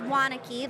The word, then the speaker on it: Wanecke: It is Wanecke, and it's Waneke, like you want to connect with me.